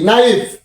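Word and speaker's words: knife: N double E নি এন আই এফ ই নাইফ এই যে আমরা নাও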